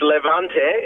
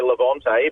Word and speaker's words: Levante: is the 2018 maserati how do you say this the levant is it no it's levanta is the proper Italian pronunciation Australians have a propensity to say Levante but it's actually live